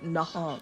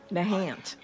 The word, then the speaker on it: Nahant: Oh, so we must be near Nahant. Diagnostic complete. Nahant. My bad. Gotta say it like a proper East Coast gal. Let's go over to Nahant, shall we?